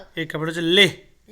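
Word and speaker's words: Leh: নগর আচ্ছা লাদাখ এর ক্যাপিটাল হচ্ছে লেহ লেহ লে এল ইচ লে বাংলায়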